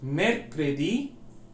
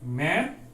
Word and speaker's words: mercredi: Now third word, mercredi, jeudi. Mercredi, jeudi. So I'll say mercredi. Mer. So we can divide into syllables. Mercredi, mercredi. Jeudi, jeudi, jeudi.